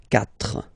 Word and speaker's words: quatre: So you get this Q, U, A, but then the sound that you will pronounce is K, okay? Quatre, quatre.